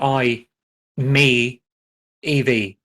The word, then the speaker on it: i-MiEV: So it's literally I, me, EV. I-ME-EV.